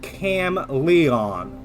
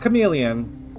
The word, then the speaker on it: Cam Leon: In reviewing the video from last time, it was revealed that the guy's name was Cam Leon, not Chameleon.